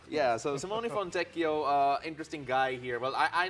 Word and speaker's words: Simone Fontecchio: So I'm gonna help everyone out here with the pronunciation because we got a jazz man to be introduced here. Simone Fontecchio. Yeah, so Simone Fontecchio, interesting guy here.